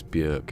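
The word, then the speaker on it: Björk: to be because Bjork she said it's Bjork it rhymes with jerk he's had enough of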